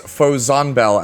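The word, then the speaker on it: Vollzanbel: When it is Frieren's turn, activates Fozanbel as an extra attack, and that is the pronunciation I'll be using for it throughout the video. Mostly because 1, it's the easiest to pronounce, and 2, it is how it is localized in episode 25 of Frieren's English dub.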